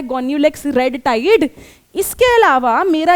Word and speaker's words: Gonyaulax: क्या प्रोनाउंस करती हूं? गोन्यूलेक्स।